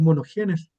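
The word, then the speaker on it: μονογενής: Aquí en griego este término unigénito se se traduce se en griego es monogenes, así se pronuncia, o unigénito o monogénis, como de un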